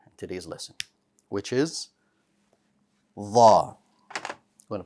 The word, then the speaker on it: ظ: Let's talk about Dha for a moment now. The letter Dha is also bold, just like Ta. So the back of your tongue rises. It too has no air.